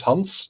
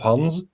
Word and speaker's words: Hans: um well it's the the S is unvoiced so it's hunts instead of Hans but apart from that